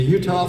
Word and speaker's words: Eutaw: The Utah flag, and it's named for the Battle of